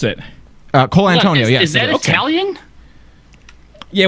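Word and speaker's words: Colantonio: Is that how you pronounce it? Cole Antonio, yes.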